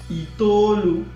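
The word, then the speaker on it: itoolu: So 9, right, is pronounced as itolu, itete, itenane. Okay, 9. So any of them is correct. Right now I'm going to use itolu.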